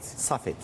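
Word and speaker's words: Safed: mermi düşen yer sahed Safet sahed diye okunuyor Dün saldırının gerçekleştiği nokta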